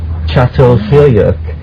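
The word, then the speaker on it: Çatalhöyük: but at for instance melart site uh you pronounce it so well Yes actually spelled c a t a l but it's called chat chat fuk the overwhelming Motif is of cattle lovingly and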